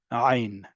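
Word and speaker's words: עין: But your throat is working and making a sound emitted from it as if you are. Ein. Okay, if you can't pronounce it, treat it like aleph and you're fine. Or it simply elides with whatever is around it.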